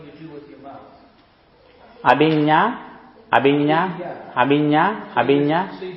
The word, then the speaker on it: Abhinna: Abhinna. Abhinna Sutta. Is the N the same as in Spanish? Is it an enye? Yes, enye.